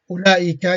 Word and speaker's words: أولئك: So this is the O, yeah, and the wow is silent.